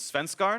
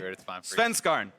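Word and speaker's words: Svenskeren: I asked him how to pronounce his name in Danish yesterday, and the best I could understand it was Svenskarn. So that's what I've been trying to say.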